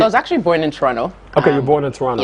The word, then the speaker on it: Toronto: And he was like, bro, you cannot say Toronto. The second T is silent.